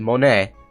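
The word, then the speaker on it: モネ: See, that is how you say it, Monet.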